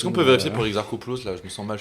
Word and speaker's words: Exarchopoulos: Alors, comment se prononce Exarchopoulos? Ah, mais il me donne La phonétique. la phonétique, mais. Ah, c'est un K. Parfait. Voilà. Exarchopoulos.